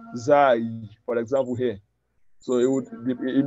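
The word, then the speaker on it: زاي: So the person that doesn't know how to pronounce Zai, for example, here. So it may say Fizai, Fizaim of Toha. Is it Zaim of Toha? Huh? Zai. We said it ends with yeah.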